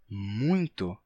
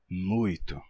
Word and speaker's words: muito: Por que se pronuncia muito e não muito?